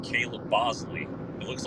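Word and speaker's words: Boushley: they like Adrien Hower and they like Caleb Bosley it looks like Bley but apparently it's pronounced Bosley they like him so there's there's some guys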